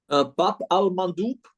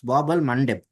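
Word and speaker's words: Bab al-Mandeb: you got the pronunciation slightly incorrect though. It's Bab al Mandeb.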